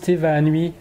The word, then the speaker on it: Te Vaanui: Donc ça se prononce Te Vaanui, l'Odyssée d'Ismaël.